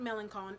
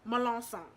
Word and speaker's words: Melancon: Being that I live in Louisiana, Melancon is not Melancon. It is Melanson. So, say it right.